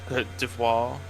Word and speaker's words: Côte d'Ivoire: It's pronounced Côte d'Ivoire.